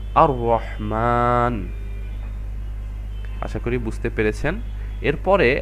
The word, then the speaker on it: আর রহমান: আমরা লামটা দেখতে পাচ্ছি এটা উচ্চারিত হচ্ছে না উচ্চারণের সময় তাহলে আমরা এর জন্য লামটাকে স্কিপ করে আমরা মোটেও আল রহমান এভাবে না পড়ে আমরা পড়ছি আর রহমান আশা করি বুঝতে পেরেছেন